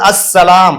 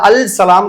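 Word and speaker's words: السلام: இடத்துல அல் சௌஜ் கிடையாது அடுத்தது அஸ்ஸலாம் இதுல அல்சலாம் கிடையாது அஸ்ஸலாம் தான் அது அஸ்ஸம்ஸ் இந்த இடத்துல அல்சம்ஸ்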